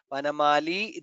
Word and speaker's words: वनमाली: Vanamali, there it is Dirgha, so we should pronounce the Dirgha.